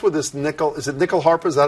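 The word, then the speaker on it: nyckelharpa: Is it nickel harp?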